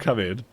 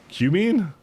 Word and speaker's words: cumin: literally looks like coming c-u-m-e-n-e how's that not coming one second let's let's go to the Internet coming pronunciation cumin cumin oh you're right I I was actually